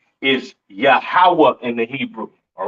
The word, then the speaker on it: Yahweh: Yahweh is not Yahuwah. All right. It's not what else some of you fake Israelites be saying. All right. It's not Yahuwah. Uh it's not Yahweh, right? It is pronounced Yahweh in the Hebrew.